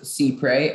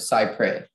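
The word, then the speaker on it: cypres: there any alternate pronunciations there is c pray and sigh pray um secret c y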